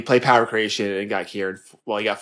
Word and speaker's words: Cairn: It's not Karn. It's the 4/5 Death Rattle summon. Cairn. There you go.